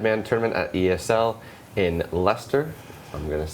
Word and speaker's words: Leicester: doing our Dead Man tournament at ESL in Leicester.